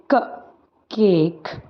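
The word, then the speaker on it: cake: vowels आते हैं तो second wall will be silent second की आवाज जो है वो नहीं आएगी तो इसको कैसे प्रोनाउंस करेंगे क ए क केक क ए क केक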